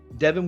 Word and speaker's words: Devon: the Seattle Seahawks taking Devon or Devin Howard's pronounced Devin Witherspoon cornerback out of the University